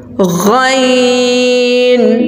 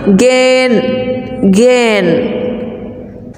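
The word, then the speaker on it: غ: My dear students, some people pronounce it gain, gain. So it's incorrect. The correct pronunciation is ghain.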